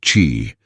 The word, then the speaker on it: qi: In ancient China, health was seen not just as a matter of flesh and blood, but of energy, specifically qi, pronounced qi, the invisible life force flowing through all living things.